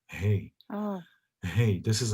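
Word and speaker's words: ה: it's the feminine letter hey hey this is how you pronounce it hey like you say like hay house right hey hey like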